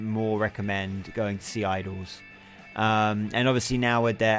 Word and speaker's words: Idles: They're called Idols. It's spelled IDLES, not IDLOS.